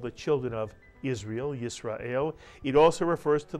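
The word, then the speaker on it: ישראל: don't write it so the first syllable is yes the second syllable is ra the third syllable is el put the word together you get isra el and of course israel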